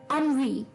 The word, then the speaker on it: ennui: इसकी प्रोनाउंसिएशन थोड़ी सी हटके है। अनवी, अनवी।